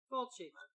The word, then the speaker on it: Fulci: Lucio Fulci. Yeah. You can say Fulci. Fulci. You can say that. That's... Right. Full as in I'm full, and chi as in I'm full of cheese.